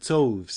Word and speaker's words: toves: as in rive and toves is pronounced so as to rhyme with groves again the first o